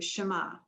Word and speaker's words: Shema: The Shema, that's pronounced in Hebrew, Shema.